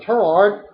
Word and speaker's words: Tureaud: Laurence Tureaud, I'm pronouncing Tureaud, turned 61.